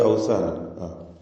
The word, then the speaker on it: أوثانا: മിൻ ദൂനില്ലാഹ് ലാ യംലികൂന ലക്കും റിസ്ഖാ, لا يملكون من دون الله أوثانا. إنما تعبدون من دون الله أوثانا وتخلقون إفكا. أوثانا എന്ന പദത്തിന്റെ അന്ത്യത്തിലെ തൻവീൻ ശേഷം വാവ് വന്നതുകൊണ്ട് ഇദ്ഗാം ബിഗുന്ന ചെയ്ത് വാവിലേക്ക് ലയിപ്പിച്ചു ഉച്ചരിക്കണം.